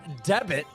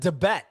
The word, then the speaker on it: debit: in the studio uh you pronounced debit like a debit card you you said debet that was interesting to